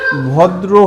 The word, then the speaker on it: ভদ্র: সব একই এরকমই ছিল তাহলে ভদ্র এটাকে কেমনে পড়তেছি ভদ্র দরফালাদ্র ভদ্র ঠিক আছে ভদ্র হ্যাঁ তাহলে